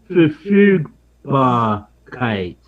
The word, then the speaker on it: Verfügbarkeit: And my wife just corrected my pronunciation. Verfügbarkeit.